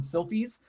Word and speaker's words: Silfies: of hard to say it's kind of like taking a selfie um but you use an i so it's selfies so it's close and i am the